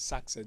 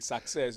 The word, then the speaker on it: success: Then you analyze project success or what you might pronounce as success. There's no ah in it actually. There's no ah like success.